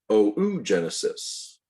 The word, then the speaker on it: oogenesis: a quick note okay oogenesis also pronounced oh ooh genesis the formation of that